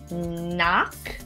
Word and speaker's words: knock: go over them again word number one knock there is no pronunciation of that initial k sound word number two knit